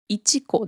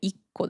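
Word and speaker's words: 一個: なくて、個の時は 1 個ではなくて 1 個です。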